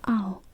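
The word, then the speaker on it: 青: I did okay just wanted to cover that oh is how you say blue ah oh all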